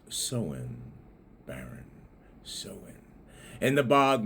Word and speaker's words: Samhain: Shamines. S A M H A I N S. It's really pronounced soen.